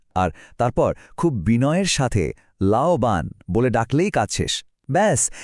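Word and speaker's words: 老板: এর উচ্চারণ হলো লাওবান।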